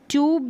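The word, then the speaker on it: tube: अब ये जो है ना इसको ट्यूब भी और ट्यूब दोनों तरीके से बोल सकते हैं, यानी यू का उच्चारण भी और ऊ का उच्चारण दोनों तरीके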